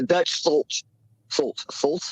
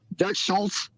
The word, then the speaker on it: Dutch Schultz: but I don't know I don't think it's quite pronounced the way you're pronouncing it but it just will go because they kind of know what you're talking about that's Dutch Schultz yeah let's just call